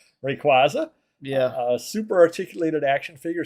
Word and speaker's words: Rayquaza: Okay, I was going to say Rayquaza, so I guess I would say it wrong. Rayquaza.